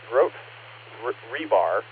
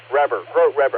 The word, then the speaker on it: Grote Reber: Grote Rebar, how it's spelled, Grote Reber, I'm sorry, wanted to continue the work.